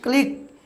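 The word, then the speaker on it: clique: শেষে আবার কিউই তাই এর উচ্চারণ কি ক উচ্চারণ করছে মানে কি ক্লিক ক্লিক মানে ক্ষুদ্র দল ভিউয়ারস এরকম ইংরেজি আরো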